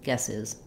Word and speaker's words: guesses: you three guesses guesses so that z sound is not a strong Z I don't want three guesses three guesses three guesses it sounds like a very weak z sound or a very light s but I also don't want a strong s not three three guesses three guesses but three guesses um and then for